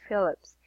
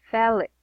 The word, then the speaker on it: Felix: Well, technically it's not Phillips. It is Felix. Mm-hmm. Felix. It's actually Oh, Felix. They okay. pronounce it Felix.